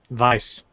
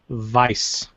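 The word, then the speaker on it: Weisz: going to try Rachel viiss vice vice German there there's no V it's German okay it is pronounced Vice she's English but the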